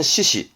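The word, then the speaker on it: 四肢: 발음은 시시 해서 그래서 시험 문제도 사지선다형으로 나오죠.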